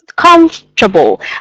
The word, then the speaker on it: comfortable: you how you pronounce we don't say this syllable is more like comfortable come comfortable okay so we avoid the oh right there it's like it didn't exist okay can you try